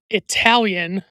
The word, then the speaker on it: Italian: And I also want to point out that it is never appropriate to pronounce the word Italian with a long I at the beginning as Apollo Gre Creed is doing in this scene and they do throughout this movie.